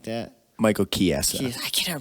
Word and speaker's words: Chiesa: Michael Chiesa. I can't ever pronounce his name. I'm sorry. Chiesa.